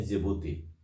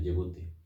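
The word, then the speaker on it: Djibouti: हम लोग बोलते हैं जिबूती। लिखते हैं डी से, लेकिन पढ़ते हैं जिबूती, डी साइलेंट है, जिबूती।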